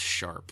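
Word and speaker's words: ♯: Pronounced sharp.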